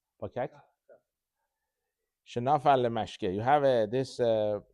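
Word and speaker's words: פקק: וכן, how do you pronounce pikek or pakak? Shel backbook. Pakak.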